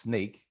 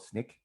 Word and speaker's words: Snyk: uh it is pronounced sneak and it stands for so now you know uh think of sneak sneakers some people in europe call it snick but most most most